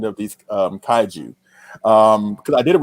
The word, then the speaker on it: kaiju: one thing about kyle you can't say kai jews around him because he will probably take a rusted sledgehammer and bash you in the shins with it but you can't say kaiju it's tied to you